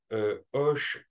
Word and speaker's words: ox: et composé lui d'un chiffre 3 qui se prononce Hoche en Maya et qui représentait dans